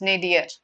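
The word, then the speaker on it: nadir: The word for that is nadier. This is how it is pronounced. Nadier.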